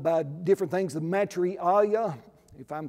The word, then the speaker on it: Maitreya: as the, he's called by different things, the Maitreya, if I'm saying that word correctly, the Maitreya